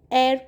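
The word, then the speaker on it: heir: एर में H silent होता है, इसलिए हम इसको एर पढ़ते हैं.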